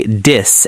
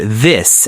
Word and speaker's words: this: Many learners say "dis" and "dat", but the correct sounds are "this" and "that". You put your tongue very gently between your teeth to make the "th" sound.